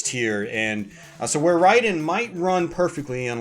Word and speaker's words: Raiden: One of the most notorious ones is Raiden, or Raiden for some of us in North America, we might pronounce it that way.